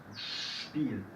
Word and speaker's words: Spiel: Y también hacemos este ruido si viene la S con una P. También en el inicio de una sílaba. Spanisch. Sprechen. Spiel.